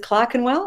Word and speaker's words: Clerkenwell: Is it Clerkenwell? Is that how you pronounce it now?